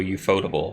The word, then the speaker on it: Ufotable: Night Unlimited Blade Works by the animation studio Ufotable, or UFO Table, however you want to pronounce it.